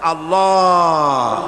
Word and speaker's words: আল্লাহ: পাকের নামের উচ্চারণ হচ্ছে আল্লাহ মুখটা একটু গোল হয়ে যাবে বলেন আল্লাহ আল্লাহ সুবহানাল্লাহ